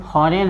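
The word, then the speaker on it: foreign: ये है फॉरेन है, जी साइलेंट होगा, यानी एन से पहले आया जी हमेशा साइलेंट होता है।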